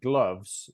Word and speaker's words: gloves: no the Spanish speakers the V sound at the end of the word can be problematic because they tend to what uh they tend to confuse the number huh so a word like gloves they might say gloves